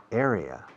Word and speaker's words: area: Area. Area. Area. Así se pronuncia.